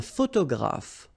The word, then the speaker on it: photographe: Un photographe. So here, PH, and here, PH, pronounce it like F, f, f, f.